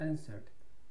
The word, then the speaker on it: answered: The man answered. 그 남자가 대답했다. 이 W가 소리가 안 나죠? answered라고 읽지 않으시도록 주의하시면 좋겠습니다.